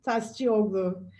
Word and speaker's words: Tascioglu: please please tell me what your surname is pronounce it properly for me thank you sarah my name is tastioglo and i'm the uk director of ivf turkey